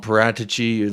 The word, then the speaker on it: Paratici: Like people call him Paratici. I heard that's the correct Italian pronunciation.